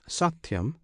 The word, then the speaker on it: satyam: the true satyam alone this satyam consists of three syllables one syllable is sa another T the third yam the first and last